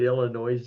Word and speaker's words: Illinois: The S is silent and don't put the thing on there. That's That's That's good. Illinois.